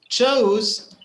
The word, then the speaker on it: chose: we pronounce it yes so chose it's the same sound as nose or close right it's the same sound close nose chose and froze and uh many other